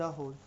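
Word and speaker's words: whole: होता है the wall okay the होल तो डब्ल्यूए वाली डब्ल्यू साइलेंट होता है ठीक है तो द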